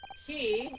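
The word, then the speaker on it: quay: A key a which is which is what Q U A Y is actually supposed to be pronounced.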